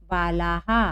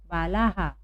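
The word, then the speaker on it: बालाः: यहाँ आ की मात्रा है और फिर विसर्ग लगा है, इसलिए क्या हो गया? यहाँ पर हम पढ़ेंगे इसको बालाहा। क्या पढ़ेंगे हम? बालाहा।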